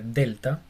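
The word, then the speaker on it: δέλτα: Aquí vemos cómo se pronuncia delta. Y es una D exactamente igual a la de nosotros, como de diente.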